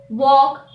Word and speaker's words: walk: letter the letter l the letter l is always silent after an a o or u for example cough yoke walk talk should the letter m